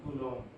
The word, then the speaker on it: coulomb: 1.6 × 10⁻⁻19 कूलम। कूलम इज द SI unit of charge, कूलम। इसको कैसे कूलम बोलते हैं? ये जो बी है ये साइलेंट रहता है, कूलम।